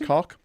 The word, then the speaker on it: Koch: I believe it's pronounced cock.